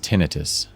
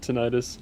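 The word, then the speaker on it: tinnitus: Oh, I do think it's pronounced tinitus. It can be either one. I've always I've always said tenitis.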